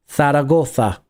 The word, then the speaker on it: Zaragoza: Zaragoza. It's Zaragoza, right? Zaragoza. For me, that's the correct pronunciation.